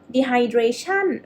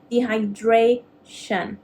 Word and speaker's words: dehydration: so repeat after me dehydration dehydration you will you will stress on this one not dehydration okay that's incorrect it's going to be dehydration okay dehydration so look